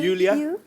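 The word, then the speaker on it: Iulia: Pronounce यूलिया। यूलिया। एंड the spellings are आई यू एल आई ए। सो आई आई you know. I mean why I. Everyone is calling me लूलिया लोलिया बट लोलिया लोलिया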